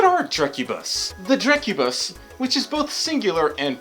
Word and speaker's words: Drekkubus: video this time I'm going to discuss the jerk Kubis and yes that is how you pronounce it phrase a pause if you got